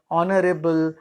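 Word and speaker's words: honour: यहाँ H silent है, इसका उच्चारण हम शुरू करते हैं आवर, यानी एच यहाँ उच्चारित नहीं होता है। ऐसे और कुछ वर्ड है ऑनरेबल, ऑनर आदि।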